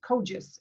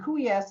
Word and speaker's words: Kogis: And everybody gets my last name wrong. It's Kogis, and it's a Greek name, and Kouias is how they pronounce it, I guess, in Greece.